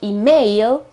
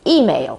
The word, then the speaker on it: email: talking about an email email the accent is on the e at the very beginning at of of the word it's not email okay with the accent on the a but it is email with the accent at